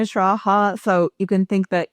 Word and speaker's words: Schraa: Hi yes I'm Shraa. So you can think that is just pronounced like Eugene and Shraaha like I said as my slogan last year. It uh rhymes with algebra which remains relevant.